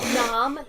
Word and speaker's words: gnome: It's pronounced nom, you Um, the water here refreshes you.